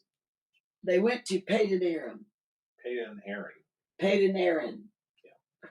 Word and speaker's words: Padan Aram: Padan Aram. Okay. Yeah, that's how you pronounce it. They went to Padan Aram.